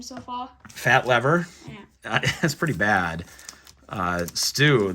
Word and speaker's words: Lever: I'm sure that's pronounced lever, but I think if I was him, I'd say call me Fat Lever.